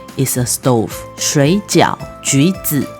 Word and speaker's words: 橘: 橘 sounds similar to 吉, good luck.